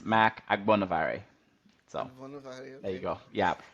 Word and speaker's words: Agbonavbare: It's Agbonavare. So the cool thing about it is actually the B towards the end of it is silent.